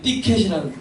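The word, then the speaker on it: thicket: 이게 티켓이란 티켓 TH 발음을 제가 일부러 발음합니다만 그 티켓이라는 것이 말하면 가시덤불을 말해요.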